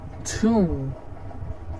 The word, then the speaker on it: tomb: Alright, now let's see where to not pronounce the B in English. Debt, debt, climb, climb, comb, comb, tomb, tomb, thumb, thumb, doubt, doubt, crumb, crumb.